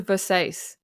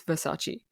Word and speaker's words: Versace: says oh thank you it's a Versace and he's like again childlike because she's a 20-some year old woman she should know that's not what it's how it's pronounced and he comes up to her and he says it's Versace and she's like what he goes It's pronounced Versace and she's like oh